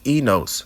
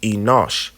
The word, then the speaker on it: Enosh: Now, if we go and keep going to the third person, it's enos, right? And it's actually pronounced Enosh or Enosh, a son of Seth, but also it means a mortal.